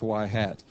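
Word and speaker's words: ŷ: things first of all this little hat on top of the Y it's pronounced y hat that is to emphasize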